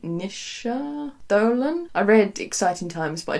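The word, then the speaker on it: Naoise Dolan: I also do quite enjoy, I think you pronounce it Nisha Dolan.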